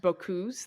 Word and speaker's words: Bocuse: I believe Yes. this actually would be pronounced Bocuse, the last name. I think that's what they said. Yeah. I believe it is the Bocuse d'or rather than because Boku is a word.